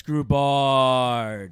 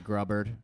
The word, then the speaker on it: Grubard: a guest today in the studio hello alex groubart what's up alex is i was actually going to thank you for pronouncing it as correctly as i assume it's